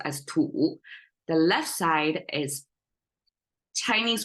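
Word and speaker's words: 土: by soil so the right symbol is soil pronounced as tool the left side is Chinese way to say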